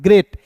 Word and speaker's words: GREAT: और EA है तो इसका उच्चारण ए के रूप में करना है, और टी है तो ट लिखना है, ग्रेट। GREAT ग्रेट पढ़ेंगे, ठीक है।